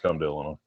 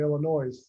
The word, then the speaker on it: Illinois: yeah i'm going to illinois and they're and they're like what i was like i'm going the other was like no the s is silent so i got off